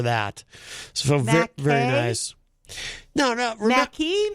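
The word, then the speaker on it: Mackey: No, it's Mackie. The joke is Mackay. Eazy-G pronounces it McKay for some reason. I said McKay too. No, you said I said Mackie. M-A-C-K-E-Y. Mackie. Right, it's Mackie. Mackie. Yeah, Eazy-G pronounces it McKay. I don't know why. Like mac and cheese, Mackie.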